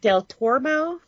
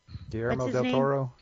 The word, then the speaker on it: del Toro: other thing I don't know if I can pronounce his name Colombo yeah Del toormo del Toro there you go he has Pinocchio I think